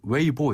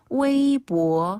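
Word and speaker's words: 微博: 웨이보 많이 한다잖아요 네네 웨이보 발음은 뭐 웨이보 이럽니까 웨이보 아 웨이보 한번 다 웨이보 웨이보네 웨이브라고 하고요 무슨 뜻이에요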